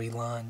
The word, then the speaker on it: eland: really like to shoot an eel in so or elon depending on how how you pronounce it so we'll just sit